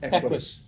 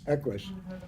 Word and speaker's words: Equus: Equus. Equus.